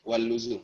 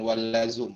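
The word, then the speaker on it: واللزوم: Wal luzum ya, wal luzum, bukan wal lazum, wal luzum.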